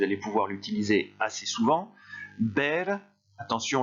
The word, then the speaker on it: ver: Ber, attention, le V se prononce comme un B, et ça donne beia, beias, beia, beiamos, beiais, beian.